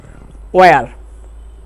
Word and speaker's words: where: অর্থাৎ এখানে এসের উচ্চারণটা সাইলেন্ট থাকবে। এরকম আরেকটা হচ্ছে ওয়ার, WHERE, ওয়ার।